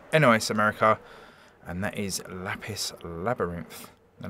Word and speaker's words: Lapis x Labyrinth: America and that is lapis labyrinth and there is a rogue X in the middle of lapis labyrinth but I'm assured it is pronounced lapis labyrinth now this is like